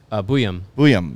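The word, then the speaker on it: Buium: Buyam.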